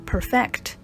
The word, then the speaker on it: perfect: perfect 也可以当动词，使完美，注意这个时候要念成 perfect， perfect。